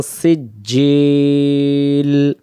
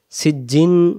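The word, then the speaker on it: سِجِّيل: মিন সিজজিল সিজ্জিন হবে না। সিজ্জিল সিজজিল সিজজিল মানে পাথর।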